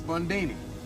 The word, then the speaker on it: Bundini: Bundini. Rhymes With Houdini, yeah, except that don't rhyme.